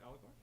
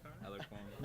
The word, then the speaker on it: Alarcon: So my last name wrong. Alicorn? Good. Alarcon.